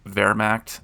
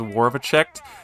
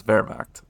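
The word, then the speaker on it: Wehrmacht: pronounce things more correctly ever since I was told that Vermact is in fact pronounced that way as opposed to whatever the heck I was saying. I think it was Warviche. That's not right. It's Vermach.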